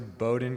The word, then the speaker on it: Bowdoin: track athletes lars sorum lars is going to bowden college is that right did i say it right or wrong bowden i'm sure it's a high academic school yeah thank you i'm laura sorum i'm going to bowdoin college i will be cross-country skiing and running